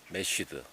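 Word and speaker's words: mashed: 마슈라는 것은 이제 일본 발음입니다만 원래는 메쉬드. 메쉬드.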